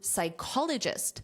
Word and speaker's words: psychologist: The same pronunciation also applies to psychologist, which is also a noun, but it's a job title.